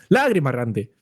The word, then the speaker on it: lagrimarrante: Aquí lo que hicimos fue quitarle el acento, porque antaño se tradujo como lagrimarrante, con acento en la A. Hay que Ay. Entonces, claro, Cualquier carrerilla. Claro, como lágrima Lágrima lleva errante. acento, ya está. exacto, entonces, lagrimarrante.